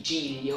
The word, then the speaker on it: Giglio: Well, his name was Luigi Giglio, or Luigi Lilio, as you wish to pronounce it.